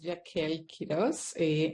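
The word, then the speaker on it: Yakeel Quiroz: And last but not least, I'm going to mispronounce this. I apologize. Yaquil Cruz. Hi, everybody. My name is Yaquil Quiroz.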